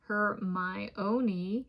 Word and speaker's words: Hermione: His female network expands ever so slightly beyond his main female friend and bookworm Hermione. Yes, the plot even specifies this pronunciation.